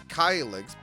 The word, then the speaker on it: Kylix: It was Kylix, but then I met Hama, pronounced it Keelix, and I loved it, so Keelix it is. Okay. So Kylix isn't necessarily wrong, but It's not with the times.